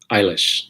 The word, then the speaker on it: Eilish: billy elish how do you say her name eilish that's yeah that's what i'm going with yeah